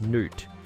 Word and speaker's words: Nut: They believe that the goddess Nut, pronounced Nut, who represents the sky, would periodically swallow the sun god Ra, pronounced Ra.